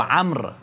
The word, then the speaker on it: عمرو: بعض الناس يشتبون يقولون عمرو، مو عمرو، هو عمرو، الواو لا تلفظ.